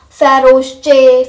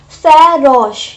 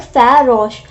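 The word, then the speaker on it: farouche: And many people, if you will see this word first time, you will be pronouncing it like faroche, faroche, faroche, something like this.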